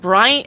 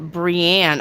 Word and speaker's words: Brienne: Brian uh uh Brian Klein. Hey. Hi, Brian. Welcome back. Will Stephen, right? Will Stephen come back to me and be committed to me? My name is pronounced Brienne. Oh, okay.